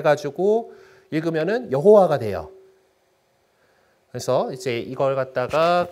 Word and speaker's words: 여호와: 아도나이 있는 되잖아요 그래서 아도나이 모음을 갖다가 찍어 놓습니다 그걸 갖다가 그대로 그 여기이 야회 있을이 하느님 이름에다 넣어 가지고 대입 그대로 대입을 해 가지고 읽으면 여호와가 돼요 그래서 이제 이걸 갖다가 그 여호와 여호와 뭐 이렇게 발음을